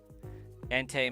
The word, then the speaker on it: Entei: Entei is another great example because it should be Entei because if I remember right, it's I E, right? Am I misremembering? No, Entei makes sense. Entei makes sense because it's T E I. I had the letters backwards.